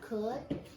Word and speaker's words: could: We've got could. If I sound it out regular, it'll be k, as you can tell, that OU, it's not going to say it's going to cut, could.